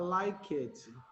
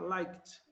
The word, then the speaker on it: liked: Então, no passado, olha só, não dá para você pronunciar liked. Você vai omitir a letra E também, então vai pular direto, vai ficar liked.